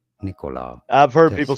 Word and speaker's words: Nikola: Nikola, not with very strong stress on it, but it's certainly not on the second syllable, not on the ko syllable. Nikola. I've heard Tesla, people say it like that, Nicola. Nikola Tesla, and now you know.